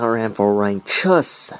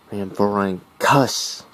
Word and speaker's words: Rhamphorhynchus: Not Rhamphorhynchus, as some people like to say. Rhamphorhynchus.